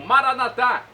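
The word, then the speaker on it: Maranata: de Jesus eu clamo maranat como dizemos nós católicos com a tônica na última sílaba ou nata com a tônica na penúltima sílaba como dizem nossos irmãos separados os evangélicos ou protestantes não importa pronúncia o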